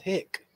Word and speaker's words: Hi-C: to a restaurant and I asked for some hick and nobody knew what I was talking about and so finally at it they told me it's pronounced hi-c.